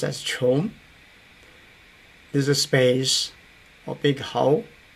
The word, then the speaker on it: 窮: The opposite, but the exact opposite is this character pronounced as chong.